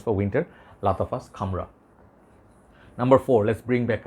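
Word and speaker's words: Khamrah: reviewers did not know how to uh like pronounce it it's almost like camera sounds to say camera this is camera okay even though I'm not Arab but this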